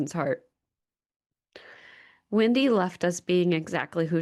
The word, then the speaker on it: Windy: Wendy. Her name is spelled like the wind, not like the fast food restaurant.